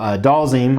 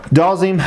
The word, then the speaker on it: Dhalsim: the concept and design so doll zine I think that's how it's pronounced that's how I always pronounced it doll zine obviously a player from